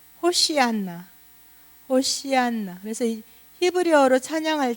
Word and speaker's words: 호산나: 호산나, 호산나 그랬어요. 그죠? 호산나. 히브리어 발음은 호시안나.